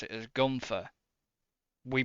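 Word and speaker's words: Guenther: an e in it he's got an e in his name which is very silent it's g-u-e-n-t-h-e-r but we all pronounce it as Gunther we pronounce it like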